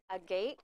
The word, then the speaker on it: agate: oh this is the a gate is that how you say it Amy corrected me because I think I said Agate you know that rock